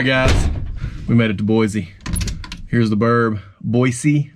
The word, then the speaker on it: Boise: All right, guys, we made it to Boise.